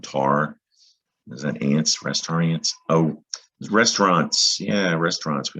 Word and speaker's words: restaurant: Think about the word restaurant, the root. That's a French word, another French word we have in English. Restaurant. That's how you pronounce it in French.